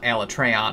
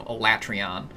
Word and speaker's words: Alatreon: That is not how I've been pronouncing that name for all these years, so it's kind of funny that I'm now going to have to try and force myself to call it Alatreon instead of Alatreon.